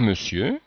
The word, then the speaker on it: monsieur: Cher monsieur. Cher monsieur. Donc on voit bien là, cette bizarreté du son E qui s'écrit ON ici et qui se prononce E comme dans le.